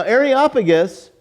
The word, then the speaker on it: Areopagus: and they bring him up to areopagus now areopagus by the way Diane good job on the pronunciation she practiced for days like that's the